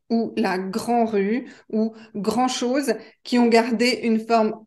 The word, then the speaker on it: grand-chose: ça ne coûte pas grand-chose ça ne coûte pas grand-chose donc attention à la prononciation on ne prononce pas le D parce qu'il n'y a pas de e du féminin un grand donc grand